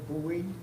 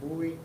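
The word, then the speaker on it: Bui: a part-time officer and his name is koi Bowie that's spelled k-h-o-i last name buoy b-u-i and the effective date would be 11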